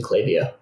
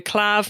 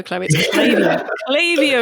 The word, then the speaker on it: Klaviyo: sponsor the podcast and i keep keep going to tell myself off every time i go clav no chloe lavio is the right way to say yeah um if louise